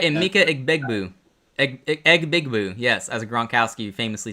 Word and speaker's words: Emeka Egbuka: Say it right, Emeka Egbuka.